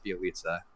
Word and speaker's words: Bjelica: Bjelica. Yeah, that's how that goes. I can pronounce her name.